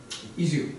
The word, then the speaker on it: Izu: They were in town to discuss our relationship with our sister city, Izu. Am I pronouncing that right? Izu? Izu.